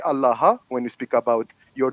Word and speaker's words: Allah: d That's not Divine say it like Jesus said it so say allaha when you speak about